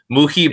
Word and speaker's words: Muhibbah: And I'll be honest, I still kind of want to change it because I'm just about tired of everyone mispronouncing it. Muhibbah, Yeah.